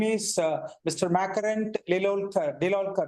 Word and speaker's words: Deolalkar: But my name is Makarand Deolalkar, and I started my journey right out of college.